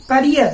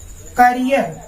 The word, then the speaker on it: career: Never in हिज करियर. देखो students, इसका pronunciation देख लो. करियर, ये वर्ड है करियर, ठीक है ना. अक्सर इसको हम लोग कैरियर बोलते हैं. देखो students, this word is made from केयर.